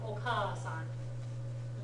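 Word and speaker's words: お母さん: Okay, but even if it's the same vowel sound twice, you make sure you give it enough time. So like ka from oka-san. Okay, oka-san, oka-san means mother, oka-san.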